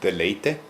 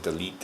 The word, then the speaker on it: deleite: Deleite? Delight. Yeah, deleite. Did I say it wrong? Yeah, you said delete or something like that.